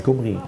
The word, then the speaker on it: Khomri: Non, c'est Khomri. Il faut bien prononcer, sinon ça pourrait être mal interprété.